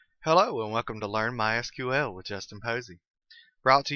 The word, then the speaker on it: MySQL: been calling it MySQL that is the correct pronunciation however it is also commonly called my sequel if you hear it called that don't be confused it's the same thing so what is MySQL well MySQL is a relational database management system